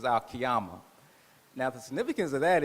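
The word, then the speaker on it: Al-Qiyamah: brother in the nation, I didn't know how to pronounce it properly. So I said, "Oh, that's Ka." And that sounds like a good name for a girl, a baby girl. So I we named our daughter Kiama not knowing that the actual pronunciation was aliyama.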